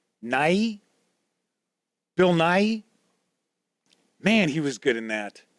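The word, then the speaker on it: Nighy: And last night I watched Living with, I think his last name is pronounced Nye.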